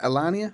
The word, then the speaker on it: Elania: We've got, now let me try and get this right, Elania. Would you pronounce that Elania? I think so, yeah.